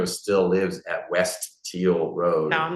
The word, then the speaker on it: Teal: not what it is it's West teal how do you spell it t e a l like the color yes West teal Road